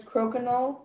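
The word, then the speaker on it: croquignole: Are there any alternate pronunciations? There is crokinole, crokinole.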